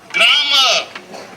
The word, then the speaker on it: grammar: Grammar. No. The correct pronunciation is grammar. Whenever it is R at the end of a word, preceded by a vowel, R is silent.